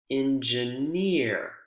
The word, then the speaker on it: engineer: group volunteer volunteer career engineer p near where's the word stress excuse me where's the syllable stress in these groups volunteer career engineer pioner it's on the last syllable isn't it yeah so for this